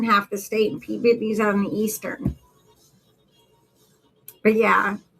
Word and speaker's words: Peabody: So, but it's pronounced Peabody. It's not Peabody. It is Peabody.